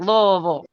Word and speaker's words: Louisville: You probably pronounce every single syllable and every single vowel. Because that's how you enunciate when you talk. Yes, ma'am. Louisville. See it? I knew it. I knew you would say it like that. Every little vowel. Yeah. So if you want to sound like you're from here or if you've been here before, just be like Louisville.